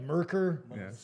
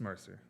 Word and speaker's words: Mercer: French or anything well I didn't think it was like merker merker would be cool like you're you you MC somebody no just Mercer Mercer yeah but do you